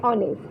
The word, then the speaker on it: honest: Okay, so H is silent. H is not a vowel. O is vowels, but H is honest. Here the pronunciation is honest.